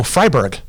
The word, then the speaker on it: Freiberg: say we had Tanner freiberg and did you air that yet with Josh oh Fryeburg f-r-e-i the E is silent pronounced I yeah anyway okay but